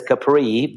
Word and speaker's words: Capri: The other place that is very popular that you can reach so easily it's Capri that everybody probably knows as Capri but the right pronunciation is Capri.